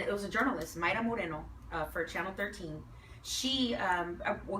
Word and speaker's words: Moreno: It's not Mayra Moreno. Her name is Mayra Moreno.